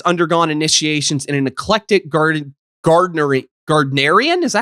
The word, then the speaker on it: Gardnerian: He's since undergone initiations in an eclectic gardenarian. Is that how you pronounce that properly?